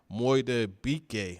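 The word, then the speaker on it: Madubuike: You look at Justin Moidabike, I can never pronounce his name. Moidabike, I believe is how you pronounce it.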